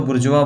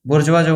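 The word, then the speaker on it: bourgeois: या तो बुरजवा बोलो यार।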